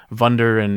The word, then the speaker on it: Wunder: But I was gonna also ask, why do you guys keep pronouncing it Wunder and Willi or whatever when there's clearly a W there? They're German words, so they're German Wunder.